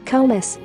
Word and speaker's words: Krewes: The Krewes, pronounced Krewes, are organizations that fund and host parades or balls during Mardi Gras.